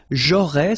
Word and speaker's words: j'aurais: J'aurais, so final S, not pronounced.